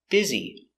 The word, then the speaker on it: busy: way of making money it's a good business pronunciation busy I'm very busy today b i b b